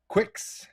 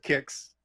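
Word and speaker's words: Qix: space invaders lunar rescue quicks it's actually pronounced quick kicks called kicks everyone calls it kicks but it is phonetically spelled in japanese q-u-i-c-k-s which would be quicks but literally yes on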